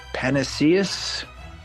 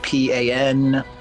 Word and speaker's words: panacea: the scroll or the ability to Grant uh panaceus depending on the type of dragon I'm not